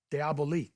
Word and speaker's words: Diabolique: It's le diabolic, shortened to simply diabolic when it was released in America the following year. Keeping the French spelling and pronunciation gave it a mysterious quality that the literal translation diabolic just doesn't have.